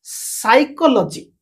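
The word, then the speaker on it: psychology: দেখ সাইলেন্ট ওকে কিন্তু সাইলেন্ট পটা সাইকোলজি দেখ সাইকোলজি স্পেলিং পিটা পড়িবে না ওকে আর অর্থ হচ্ছে মনোবিজ্ঞান তার পিন পি পড়িবে না আন নিমোনিয়া ইউ এনই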